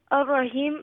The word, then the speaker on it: Ar-Rahim: In Ar-Rahim, the Ra will be Huruf al-Shamsi because the lam before it is silent. The Ra will be full mouth because it has Fatha on top of it. And it has a tasdeed on it, so it will be joined with the Noon, double letter, double sound.